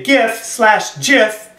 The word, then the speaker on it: GIF: Well, James Woods, who is a conservative and supports President Trump, created a GIF/GIF, however you want to pronounce it, either way is correct, of Anderson rolling his eyes with the caption, "As his butt plug dislodges during a newscast."